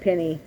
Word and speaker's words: penne: So I'll keep compiling that in a Ziploc bag until, and so we had fettuccine in there, rotini, penne, so some people pronounce it penny.